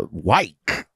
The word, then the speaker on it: Van Wyk: about 200 trucks all right van wyk uh white thank you very much sir is there a